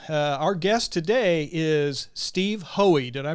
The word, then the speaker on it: Hohe: host Mark Pals Our Guest today is Steve hoey did I pronounce that that's correct you did that okay